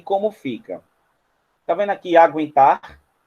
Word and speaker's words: aguentar: Tá vendo aqui aguentar? Aguentar. Esse trema que era colocado em cima do U era para você não falar aguentar, e falar aguentar.